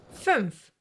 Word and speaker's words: fünf: The first one is to form your mouth like you want to say a U, like in soup, for example. But instead of saying a U, you say the letter E.